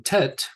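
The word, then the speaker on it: ט: And then tet is pronounced as in tail.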